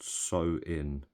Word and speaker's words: Samhain: It's spelt Samhain, but it's actually pronounced So-in. So the ancient Celtic festival of Samhain, when people would light bonfires and wear costumes to ward off ghosts.